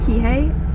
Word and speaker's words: Kihei: We're staying in, the town is pronounced Kihei. I need to get a better pronunciation on that if it's not it, but I will put the names of everything on the screen.